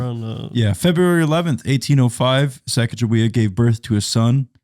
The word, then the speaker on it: Sacagawea: But it's kind of like Skakawea. How do you say it? Sacagawea, Sacagawea.